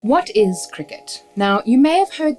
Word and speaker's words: Cricut: Now, you would have heard me say it already, and it's pronounced Cricut, just like the sport and just like the insect.